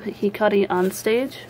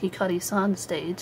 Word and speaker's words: Hikari on Stage: First up I have Hikari on Stage. I was actually pronouncing the name of this manga wrong. I always thought it was Hikari-san Stage. I kind of misread that O as a Sa.